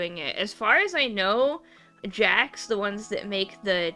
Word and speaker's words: Jakks: Yeah, Jax is spelled Jakks, and it's the third big doll company.